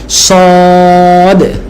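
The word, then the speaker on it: صاد: হ্যাঁ, এই যে আরবিতে যদি এভাবে লেখা হয় তাহলে টেনে বলতে হবে সদ। হ্যাঁ, সদ। কি উচ্চারণ? সদ। হ্যাঁ, স। যেমন আমরা সিনের ক্ষেত্রে বলেছি আই সি হিম, তো এটা যদি আপনি পাস্ট টেন্সে বলেন তাহলে কি বলবেন?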